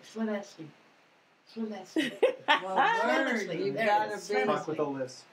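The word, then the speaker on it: Llanelli: So Llanelly is Clinesley.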